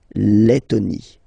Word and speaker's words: Lettonie: So remember when you've got this E and then a double letter like that, T, okay, then you will have to open your E and it will become E, les, Lettonie. La Lettonie.